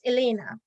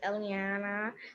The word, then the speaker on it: Eliana: and i go with elena miss my name is eliana they have one darling it is elena go again for the pronunciation eliana eliana okay a beautiful name